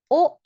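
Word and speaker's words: を: Kore o. So ito na naman yung particle o object marker. W dapat ang itype. Okay pero you can pronounce it as o kudas.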